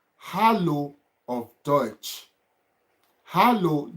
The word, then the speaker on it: Hallo: Hallo, the way you spell it, hallo, it is Hallo.